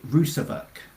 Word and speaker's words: Rusavuk: Rousvak.